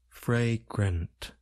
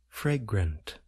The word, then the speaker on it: fragrant: We generally place stress on the first part of the word, fre.